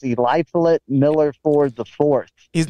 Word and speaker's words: Eliphalet: It's Eliphalet Miller Ford the Fourth.